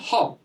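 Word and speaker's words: hope: হপ। HOP উচ্চারণ কি?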